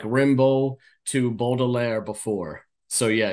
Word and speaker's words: Rimbaud: a sucker's prayer, like Rimbaud to Baudelaire before. So yeah, you were right. Oh, really? Yeah. Yeah. It's actually, sorry to be a pedant, but I just can't help myself. It's actually pronounced Rambo, which Rambo?